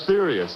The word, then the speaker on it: Aetherius: Tell me about the, did I pronounce it correctly, the Aetherius Society? Aetherius, A-E-T-H-E-R-I-U-S.